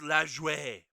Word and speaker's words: Lajoie: saying it's like so here's the best way to think of nap Lajoie it's like you're a bad doing a bad french impression when you pronounce it cuz French would be naswa but it's lash way so it's like it's pretty much like that come on Sindhu be